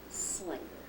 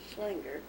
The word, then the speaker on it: Schlinger: your maid name well it was always pronounced Slinger s l i n g it's pronounced and it is spelled schlinger the only person in our family who ever said schlinger is my brother's husband